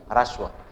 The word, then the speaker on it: ह्रस्व: उच्चारण को ढंग से पढ़िएगा, र है ये, री नहीं है, ह्रस्व। ह्रस्व जिसमें र स्वर सहित है और ह स्वर रहित है, और ह पहले है और र बाद में है।